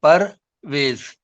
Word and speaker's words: Perwaiz: Perwaiz, Parvez, Perwaiz. So, Perwaiz. full name is Perwaiz. Perwaiz. Yes, Perwaiz. Very simple. two syllable, Perwaiz. So my next poem is The Spring Season.